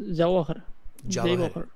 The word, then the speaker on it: Jawahar: Just Jawahar. It is a J.